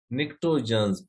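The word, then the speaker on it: pnictogens: निक्टोजन्स, P silent है इसमें। पी क्या है इसमें? साइलेंट है।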